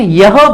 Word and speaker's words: यह: वह ये एच जो है इसमें ये प्रोनाउंस नहीं करते हैं, यह बोला जाता है. आइडियल वर्ड है, but mostly the एच द ह इज not pronounce. It is called ये.